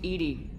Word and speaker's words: EDI: you named Edie? EDI is the phonetic pronunciation of EDI. That is an acronym for Enhanced Defense Intelligence.